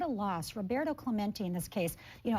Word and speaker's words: Clementi: And I think we said his name wrong. It's Tyler Clemente.